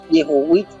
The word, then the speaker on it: Yehovit: Bueno, para las personas que no saben hebreo, la W se escribe en hebreo, ese símbolo que es la Baum, se escribe W, pero se pronuncia como una V, una B corta, o también una B de vaca.